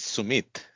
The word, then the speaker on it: Sumith: of my name is Sumit with a accented TH. And I remember my grade prep teacher found it very hard, this older Irish lady, to get that pronunciation. So she called me Sumit, and that name has